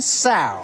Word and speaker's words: sow: Add to that list 1 sow. What? Sow, rhymes with cow.